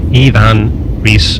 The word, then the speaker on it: Iwan Ries: to visit iwan Reese actually pronounced Ian Reese to insiders in Chicago if you enjoyed this